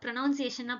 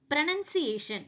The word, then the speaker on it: pronunciation: ஆனா இதை நம்ம ப்ரொனவுன்சியேஷனா படிக்கணும்? நோ வே. இதை ப்ரனன்சியேஷன் அப்படின்னு சொல்லணும். பிகாஸ் இங்க ஓ இல்ல, இந்த ஓன்றது இங்க சைலண்ட்.